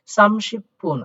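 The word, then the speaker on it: 삼십분: যেমন এটা প্রথমে বসলে প হতো, কিন্তু যখন একটা শব্দের মাঝে বা শেষে গিয়ে হবে তখন এইটার উচ্চারণ দ্বিত্ব, অর্থাৎ দ্বিত্ব করতে হবে। যেমন এটাকে পয়ে পয়ে করতে হবে, তাই এটার উচ্চারণ হবে শিবপুন, সামশিবপুন।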